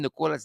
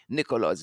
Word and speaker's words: Nicola: nicola daniels you know some people pronounce this name nicolas nicola her wonderful colleague in the alliance for change nicola charlton said don't call me nicholas nicholaw please and thank you very stoosh very